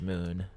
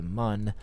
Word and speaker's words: Mun: It's actually pronounced moon, I guess, from what I've been told. We used to always pronounce it the mun back in the old days.